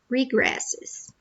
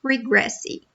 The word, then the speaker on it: regresse: Know that in Portuguese, the letter R at the beginning of a word sounds like h, okay? Like the H in English. So it's not regresse, it's regresse, okay?